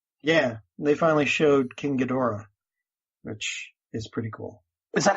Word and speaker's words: Ghidorah: my brain so yeah it's King Ghidorah or they they the alternate pronunciation is king Dedra so John so what's